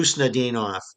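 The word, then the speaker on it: Khusnutdinov: Husnudinov? Yeah, Husnudinov. It starts, it's like a lot of Russian names that start with a K.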